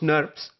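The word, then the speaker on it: snRNP: ribonucleoprotein particles that are abbreviated as SN R and PS or pronounced nerves there are two types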